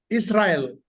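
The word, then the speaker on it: ישראל: I-S-R-A-E-L. Now the A comes from Kamets, right? And the E comes from Tsere, the one just below that. So we pronounce it like this: Israel.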